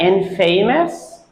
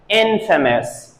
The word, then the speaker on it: infamous: at the end of the word does not pronounced what about this word did you say that in famous because if you did so that is a wrong pronunciation they say it infamous Infamous o-u-s at the end is pronounced as